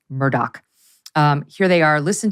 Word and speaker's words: Murdaugh: it's very confusing because it's spelled m-u-r-d-a-u-g-h but apparently it's pronounced Murdoch um here they are listen to the Cavalier nature of uh Murdoch in this soundbite 19.